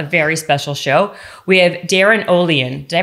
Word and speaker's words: Olien: it i just found that out actually it's pronounced olean here oh lean yeah okay i'm canadian so you can blame